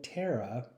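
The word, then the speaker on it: Terra: ultimately one of the the good guys so terara controls the ground that's like her power to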